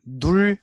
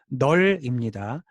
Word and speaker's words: null: 자, 널이라는 건 이걸 눌이라고 읽는 거 아니고요. 자, 눌 아니고 널입니다.